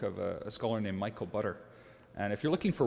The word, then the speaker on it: Butter: a scholar named Michael butter and if you're looking for one book just one book to read on the topic uh his last name is is butter and it's spelled like I'm pronouncing it uh the book is